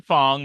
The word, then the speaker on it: Fong: So it rhymes. Julian Fong, the wealthiest man in Hong Kong.